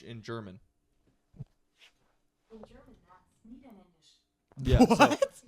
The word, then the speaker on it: Niederländisch: In German, that's Niederländisch. Yeah, What? So, Niederländisch, like Niederländisch.